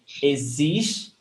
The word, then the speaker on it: existe: So the stressed syllable is existe, zis.